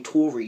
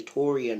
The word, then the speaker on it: Tau'rean: with that but when someone's trying to call me Tori because they don't want to say Toran because tan is too hard for them to pronounce or like the extra